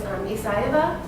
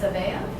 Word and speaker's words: Aveya: My maiden name is Aveya. People always mispronounced it by saying Aveya.